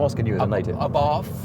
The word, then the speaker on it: Abarth: Abarth. Yeah. I'm asking you as a native. Abarth.